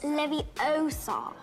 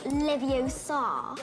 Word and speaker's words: Leviosa: Besides, you're saying it wrong. It's Leviosa, not Leviosa.